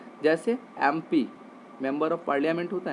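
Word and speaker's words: MP: जैसे एम पी, ए sound आ रहा है ना, ए साउंड आपका वॉवेल साउंड है तो क्या लगेगा, एन।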